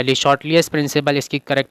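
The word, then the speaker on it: Le Chatelier: तो ली चैटलियर principal या ली शॉर्टलियस principal, इसकी करेक्ट प्रोनाउंसिएशन होती है, वो हमें अप्लाई करना है।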